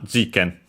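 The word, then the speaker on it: 事件: Okay, no, it's actually accented on the first one, jiken.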